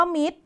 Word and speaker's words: มิตร: บุรุษ พิเศษ อากาศ โอกาส มี คำ พิเศษ อยู่ 2 คำ เช่น เดียว กัน นะ คะ มิตร และ พุธ คำ ว่า มิตร นอก จาก ต เต่า เป็น ตัว สะกด แล้ว เนี่ย ยัง พ่วง รอ เรือ มา อีก ด้วย อีก ตัว นึง คล้าย